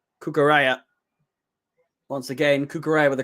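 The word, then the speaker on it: Cucurella: finally found out how you say his name cucaraya once again kukure with a cross cucure's cross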